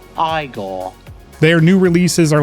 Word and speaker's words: Igor: here and it is so sick now it's pronounced igore their new releases are like a brilliant Blast